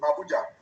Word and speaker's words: Abuja: send voice notes to Abuja. Those who take photos. Now, there you go again. Did you see how the AI pronounced Abuja? Abuja. Abuja. not Abuja. Abuja, they are not the same.